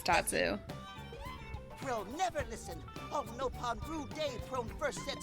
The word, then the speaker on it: Nopon: On Nopon brew day, Prone first set sticky feet on Mira. Also, yeah, they do pronounce it Nopon in Xenoblade X.